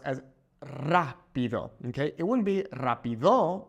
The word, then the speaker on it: rápido: Also, notice how we have that little accent mark over the A, okay? Here, rápido, it's pronounced as rápido, okay?